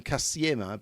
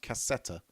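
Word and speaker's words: кассета: I've been calling them Kasiema, but I think someone told me it's actually pronounced cassetta.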